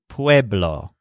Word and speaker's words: pueblo: word for town is pueblo the same word as we used for people with a stress on wave wave law now ciudad is on